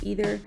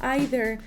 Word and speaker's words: either: Pero sí hay gente que tiene el hábito de solamente decir either y hay gente que solamente lo dice como either, pero la verdad es que la mayoría de personas usamos ambas pronunciaciones.